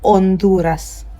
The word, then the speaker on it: Honduras: H is silent in Spanish. So this word right here is going to be pronounced as Honduras.